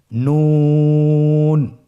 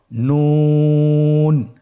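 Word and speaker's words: نون: নুন হরফটি উচ্চারণের ক্ষেত্রে অবশ্যই পাতলা করে উচ্চারণ করতে হবে এবং তিন আলিফ টেনে পড়তে হবে। আপনারা আমার সাথে বলুন নুন। আরেকবার চেষ্টা করুন নুন।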